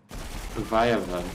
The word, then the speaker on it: leviathan: Leviathan.